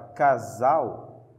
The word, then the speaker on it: casa: Casa. Essa palavra sem acento é paroxítona.